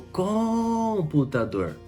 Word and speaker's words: computador: O computador. Não. O computador. Não. O computador. Não. O computador. Computador. Então a última sílaba é a mais forte.